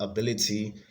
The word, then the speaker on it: ability: on the second syllable ability the stress is on the second syllable a revivalist the stress